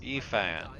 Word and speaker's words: Ifan: It's pronounced Ifan. Rolling his eyes at the Magister's warning, the man named Ifan beckons again. Oh, Effin.